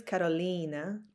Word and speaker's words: Karolina: It's correct, Carolina. So there are no special signs or special things that it's not. Allez, I want to respect your name, The correct way is Carolina.